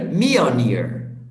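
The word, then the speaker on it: Mjölnir: not sure oh me meow near me or near yeah the intonation is in the beginning of the word so meow near me or near me all near okay teacher do you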